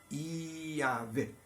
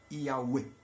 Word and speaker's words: Yahweh: E o W, e o E e o H tem som de Ue, onde a sílaba U é dita de forma mais comprida e o E mais curto. Iavé, Iauê, Iauê.